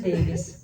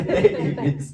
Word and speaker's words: Davis: Eu falo, meu nome é Davi com S no final. Mas pronuncia Davis. Pronuncia Davis, que veio de Davi.